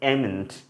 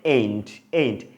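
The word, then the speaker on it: ain't: করি, এই দেখুন AMN''T, এটা আমরা উচ্চারণ করি এমেন্ট। ওকে, এটা কিন্তু সঠিক না, এই জন্য ক্রস মার্ক দেখতে পাচ্ছেন। ওকে, সঠিক কন্ট্রাক্টেড ফর্ম কী হবে? এইন্ট।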